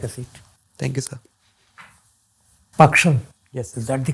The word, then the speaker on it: Pakshal: Pakshal. Yes, is that the correct pronunciation? Pakshal. Pakshal.